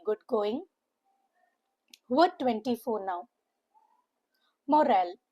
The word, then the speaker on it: morale: Two syllable words with a stress on the second syllable. M O makes the sound of M. M U H. And R A L. Moral. Moral. It is not moral or moral. It's moral.